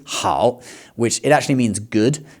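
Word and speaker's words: 好: A word in this tone that you will often hear just said on its own, okay? With no other word directly before or after to cause a tone change, um is the word that they often use for yes in Chinese, hao, which it actually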